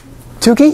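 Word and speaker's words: Tukey: last names of statisticians turkey yeah that's how that's pronounced Tuki right anybody else go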